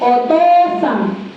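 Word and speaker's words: お父さん: If you have two vowels, dapat longer and longer ang pag-pronounce. Hi, wakalimashita ka?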